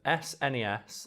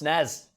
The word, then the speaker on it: SNES: on the debate of snes or snez i'm definitely an snes person i'm a snazz boy it's pronounced snezz the super nintendo entertainment